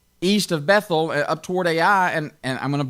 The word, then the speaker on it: Ai: on the east now some people call that i or a but it's the way i've heard it pronounced is ai just like it's like it's written there on